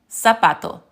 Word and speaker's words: zapato: So just remember that, yes, the Spanish Z sounds like an American S. Zapato, corazon.